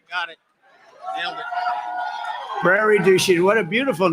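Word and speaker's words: Prairie du Chien: get worse actually so we're here today in Prairie duen is that a good yeah good pronunciation you could have given me a little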